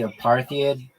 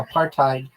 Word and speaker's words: apartheid: You mean a partid? Yeah. I mean that's the same thing. Why did you pronounce it? I've never heard anyone say that. I get it spelled like that. Hold on. Yeah, you're right. Well, am I not I know. Yeah. Apartheid. Aparttheid. Yeah, you're you're 100% right.